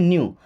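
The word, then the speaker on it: knew: देखिए नो का second form है न्यू। अब यहां पे हमारा केवल के साइलेंट है। क्या पढ़ते हैं इसको? न्यू।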